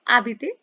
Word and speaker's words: habiter: हम एक एग्जांपल करेंगे इआर वर्ब का आबिते। That is to live. इसमें क्या है कि जो आबिते है it starts with a silent as.